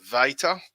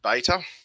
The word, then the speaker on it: beta: on so alpha or alpha beta although some people say to me that two thousand years ago they actually pronounced it veiter i'll stick with beta gamma always the hard